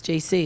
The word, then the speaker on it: Jaycee: my name I I my name is spelled out actually it's j-a-y-c-e-e that's JC it's not just the initials the way I got